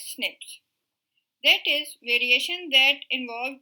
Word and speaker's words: SNP: of single nucleotide polymorphisms snp is pronounced as snaps that is variation that